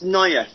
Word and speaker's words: Naifeh: I think it's Naif. It's spelled Naifeh.